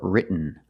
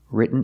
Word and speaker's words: written: So you can say written or written. Written is more common. Just don't say written. It's written.